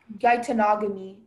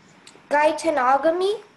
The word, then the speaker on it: geitonogamy: Gaitanogamy. Gaitanogamy? Yes. Could you please have all the information? Yes. Gaitanogamy is the only pronunciation.